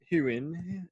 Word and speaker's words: Heughan: Anyway, we're talking Sam Hugon. Is that how you pronounce it? Heughan.